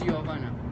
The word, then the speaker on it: Jovana: Joan it's perfect yeah yovana cuz I went to school with a Jovana kaas yeah I mean my name is spell with J but in Serbia we pronounce it as y so it's Yana okay so this is